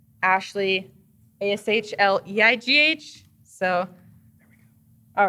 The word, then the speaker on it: Ashleigh: yeah just Ashley but my name is spelled weird so it's Ashley a-sh-l-e-i-g-h so all right